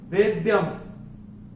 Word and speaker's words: वेद्यम: तो ये है वेद्यम। और अगर आपने ध्यान दिया